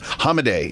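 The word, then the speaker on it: Hamadeh: by Hamed and and I keep wanting to say Hamed Hamed I I I I have I can't pronounce his name correctly and I'm embarrassed by it hamade is is he say it and he seems like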